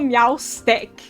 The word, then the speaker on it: Meowstic: Why is it called Meowstick?